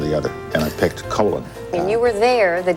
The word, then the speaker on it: Colin: figures I was uh Colin to my parents that's the more common British pronunciation but when I was